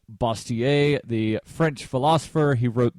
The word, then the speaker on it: Bastiat: of satire written by Frederick bastiat or more properly should be pronounced basier the French philosopher he